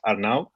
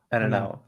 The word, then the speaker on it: Arnau: - So I get this question a lot actually for English speakers it's quite easy, just two words. The ar and nau, so A-R-E and N-O-W and then you just say my name, right? It's Arnau.